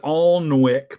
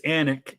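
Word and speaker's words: Alnwick: anet Castle recently and that is how it's pronounced it looks like alwick but it's anic Castle um home to the Percy my ancestors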